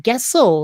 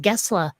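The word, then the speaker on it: Gessle: of my favorite band you look at his last name and you're thinking that's gessel isn't it but in swedish it's pronounced gesla so yeah um you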